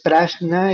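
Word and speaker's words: prajñā: Eh, la primera sílaba pra eh se refiere a algo como especial o superior. Y la siguiente sílaba, shna, eh jna, es como visión. Entonces, prashna es la visión superior o la visión especial.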